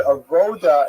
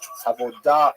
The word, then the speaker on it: avodah: The word avoda in Hebrew, avodah in modern Hebrew, or in Sephardic pronunciation, it's hard to translate properly.